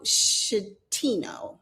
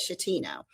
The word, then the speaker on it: Schettino: And so, but he was Captain Francisco Schettino, I think is how you say it, Schettino.